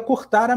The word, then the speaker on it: Curtara: Ele falou que o mais próximo seria Curtara mesmo. É que, na verdade, ao pé da letra, seria como se tivesse 2 A's. Um A pequenininho colado. Seria Curtara.